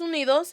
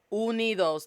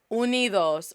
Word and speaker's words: Unidos: So right now in Los Estados Unidos, say it with me, Los Estados Unidos, not Unidos. Unidos, Los Estados Unidos, the United States.